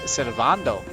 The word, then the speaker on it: Sylvando: could be wrong, but I'm pretty darn sure it's pronounced Sylvando. My enunciation isn't perfect, but the A would be, you know, a longer sound, I believe. Not like the word and.